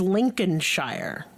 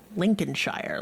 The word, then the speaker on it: Lincolnshire: This is Lincolnshire. Lincolnshire, like President Lincoln.